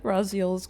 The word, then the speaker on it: Raziel: Yeah, Raziel is is is uh is how you say it. Well, at least how it's it's said in game.